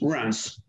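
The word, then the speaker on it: Reims: monte the i can and it's pronounced rats so if you're traveling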